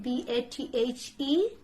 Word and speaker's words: bathe: Can you pronounce it B-A-T-H-E?